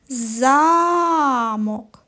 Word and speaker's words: замок: А тепер поставимо наголос на перший голосний звук. А, замок.